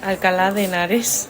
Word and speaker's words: Alcalá de Henares: Alcalá de Henares.